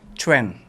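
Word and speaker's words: Qwen: apa tuh namanya Ken kalau ditulisnya q w n tapi katanya kalau Q itu dibacanya di sana Cen Cen jadi c g j jad Chen mau kue dong mau cu cu cuen gitu katanya dari Alibaba ituah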